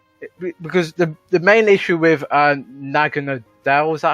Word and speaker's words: Naganadel: It's just Alolan Ninetales with Aurora Veil just makes because the main issue with Naganadel, is that how you say it?